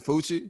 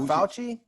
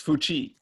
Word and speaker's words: Fuchi: poochie this is fuchi yeah that's how you say it it's not fauci no it's not i like fuji it rhymes with gucci you put that like cookie no it's french it's fuchi whatever his [ __